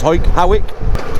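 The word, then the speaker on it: Hawick: through back to hike it's all pronounced it's pronounced Howick which goes through a place called Kappa Clerk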